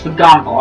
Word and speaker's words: McGonagall: I was like, I'm gonna say it right, it's McGonagall.